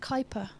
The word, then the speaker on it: Kuiper: So, pronounced Kuiper.